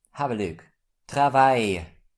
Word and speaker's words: travail: This letter combination is pronounced like Y in the English word my. So we pronounce it I. Have a look. Travail.